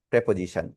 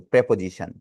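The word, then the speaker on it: preposition: এজন্য এটা হচ্ছে একটা প্রেপোজিশন। দেখেন প্রিপজিশন না কিন্তু প্রেপোজিশন। এটার উচ্চারণটা হচ্ছে প্রেপোজিশন।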